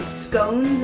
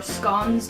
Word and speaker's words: scone: Well, we call them scones or scones, depending how you say it.